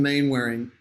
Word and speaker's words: Mainwaring: At Mainwaring. So I say Mainwaring here because that's how it's spelled.